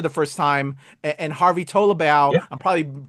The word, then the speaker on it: Tolibao: And Harvey Tolibao, yeah. I'm probably pronouncing his last name brutally.